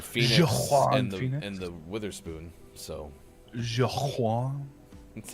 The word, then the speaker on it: Joaquin: So Joaquin?